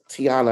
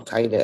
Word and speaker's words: Taina: And I didn't even give Tiana, I always say your name wrong, Taina.